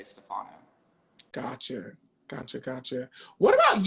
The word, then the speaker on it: Stefano: of this um i think tyra never pronounced my name correctly thinking back at it or she never pronounced my name how i pronounced my name how do you pronounce your name stefano see that's what i saw it but when i heard her on the on the show stage stefano i was like oh